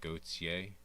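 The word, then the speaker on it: Gotye: Gautier.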